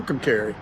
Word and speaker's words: McAlester: They're on a long road trip heading to Well, tonight to McAlester.